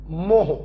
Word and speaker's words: mho: की बात करें तो ओम की स्पेलिंग है OHM, उसको उल्टा कर दो मोह, MHO, या इसी को बच्चों हम लोग साइमन भी बोलते हैं और कैपिटल S से डिनोट करते हैं।